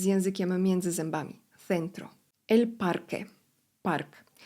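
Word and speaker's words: parque: Centro el parke. Park. Gdy mamy obok siebie q u E, nie wymawiamy litery U.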